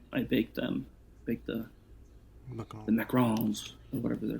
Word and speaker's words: macaron: we made some macrons macarons not macaroons as most people pronounce it wrong this little delicious french